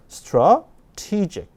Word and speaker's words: strategic: 요 A를 힘 빼고 어라고 읽어야 되고요. strategic 그렇게 소리를 내셔야 돼요. 해볼까요? strategic. 전략은 strategy. 전략적인은 strategic. 발음이 다르죠? 왜? 강세가 이동했기 때문에 그렇습니다.